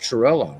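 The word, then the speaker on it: Cirillo: And here's Jeff Chirillo now. I know people raising their eyebrows, but I'm using the Italian pronunciation of his name.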